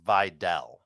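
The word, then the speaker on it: Vidal: It's And by the way, Heath, I'm not sure if you're aware it's pronounced Videl.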